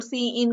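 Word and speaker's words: cin: करने के लिए कि सी आउट को हम प्रोनाउंस कर सकते हैं सी आउट और सी इन को सी इन और इसके साथ होता है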